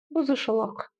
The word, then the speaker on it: бұзушылық: Помним, как у нас произносится буква «К» с хвостиком снизу. Нужно просто откашляться через обычную букву «К». Шелок, шелок, бузушелок, бузушелок.